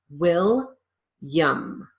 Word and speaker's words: William: I pronounce the L I lose that middle syllable completely and then I use a consonant Y sound in the last syllable will yum William this is called